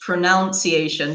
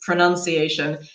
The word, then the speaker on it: pronunciation: Maybe an example is pronunciation, which I for a long time pronounced pronunciation because the verb is pronounce. So I Yeah. said pronunciation, but it's not correct. It's pronunciation.